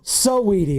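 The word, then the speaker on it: SZA: Si Sidi. Not Sweetie. Sidi Bay Area's own.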